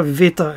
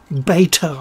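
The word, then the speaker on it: βήτα: own language my alphabet it's a veta actually not beta i don't know where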